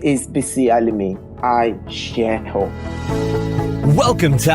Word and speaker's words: Bisi Alimi: Is that how I pronounce it? Yes. I got it right? It's Bisi Alimi. Bisi Alimi.